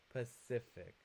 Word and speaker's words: Pacific: Pacific. The stress is on the second syllable.